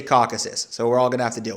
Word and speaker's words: Caucasus: ethnically interesting part of the world called the Caucasus or Caucasus, depending on your pronunciation. In Russian, it's also called the Kavkaz. So I know people roast me for my pronunciation of this region. I say Caucasus, so we're all going to have to deal